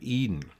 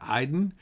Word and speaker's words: Eden: about the idea of Eden actually if we pronounce that properly be closer I think to Aiden and as we break